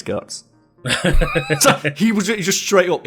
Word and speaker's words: Guts: It's actually pronounced Gatsu. And then there's that interview with the writer of Berserk where he's like, no, it's Guts. So he just straight up, it's Guts.